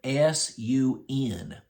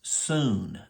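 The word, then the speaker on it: σύν: is the Greek word s-u-n but it's pronounced soon not Sun okay it doesn't sound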